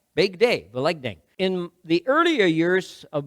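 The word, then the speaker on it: Великдень: you anyways the Ukrainian word for Easter I'll pronounce it in Ukrainian Ving and literally means if big day vei dang big day Vang in the earlier years of my growing up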